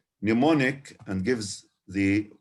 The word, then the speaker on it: mnemonic: hard or something you can't remember without a mnemonic. Bravo. So we can have a look here at the online dictionary itself and compare. Longman, for example, Longman Dictionary of Contemporary English says mnemonic and gives the pronunciation mnemonic.